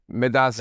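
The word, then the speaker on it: Medaase: Medasa. Medasa. Yeah. Did I said that right? Yeah, you said it right.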